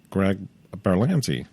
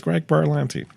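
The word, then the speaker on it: Greg Berlanti: the back it says Greg berans um and sorry mispronouncing his name no it's Greg Buran sorry um so he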